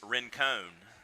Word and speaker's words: Rincon: R-I-N-C-O-N, Rincon. Now, if you lived in a city outside of Savannah, spelled the same way, R-I-N-C-O-N, it would be Rincon.